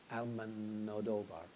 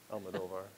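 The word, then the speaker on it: Almodóvar: In any case, I'm going to go ahead and use Del Toro, but we could use I'm going to say his name wrong. Almodovar. Almodovar.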